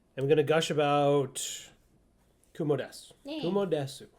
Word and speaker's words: Kumo desu: So, I am going to gush about Kumo-desu. Yeah. Kumo-desu. I'm used to saying desu. Unfortunately, that's not That's not correct. Kumo desu, because Yes. the U part is silent.